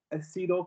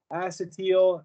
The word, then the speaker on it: acetyl: chloride and we get acetyl chloride or sometimes people pronounce it acetel acetal either way is fine with me so with that in